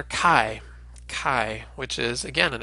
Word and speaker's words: chi: sounded as in backhand nowadays when we're pronouncing a chi as English speakers we sometimes have a hard time distinguishing between an aspirated an unaspirated K sound so sometimes you'll hear people pronounce a chi as though it's just a regular K as in kick the other way that you can pronounce chi is the way the modern Greeks do it which is sort of as a German CH sound and to do that